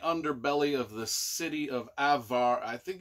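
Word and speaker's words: Averlaan: living in the underbelly of the city of avvar I think it's it's how is this spelled Avalon a-v-e-r-l-a-a-n Avalon the most ancient of cities in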